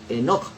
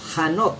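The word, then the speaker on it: חנוך: Esto en hebreo se le pronuncia Enoch, o Hanok es la palabra correcta en hebreo, y fue traducida como Enoch, que caminaba obviamente con Dios.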